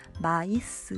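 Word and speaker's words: maïs: 있는 단어 같은 경우는 구별해서 마이스 라고 읽어야 하고 요 요 단어의 원래 보통은 프랑스어의 서 s 발음이 끝에 나지 않는데 단어 자체가 소리가 납니다 마 있으라고 그래서 얘는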